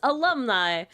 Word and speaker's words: alumni: depending on how you interpret niie but it's alumni alumni yeah there you go n perfect yeah cuz I would read phonetically and I as KN yeah closer to